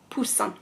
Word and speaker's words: Poussin: and poor son and this is just like earlier on when we were talking about how to pronounce the eye instead of saying it we say ah okay put some lovely chick is Poussin okay so in the